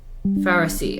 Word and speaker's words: Pharisee: is primarily about religious hypocrites, which is it pronounced Pharisee? Pharisee.